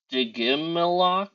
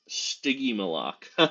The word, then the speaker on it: Stygimoloch: Digimilok? I've never heard that, Brent. Is that are there multiple ramming dinosaurs? Like, are there multiple dinosaurs that look like that? Stygimoloch. Thank you for doing that phonetically.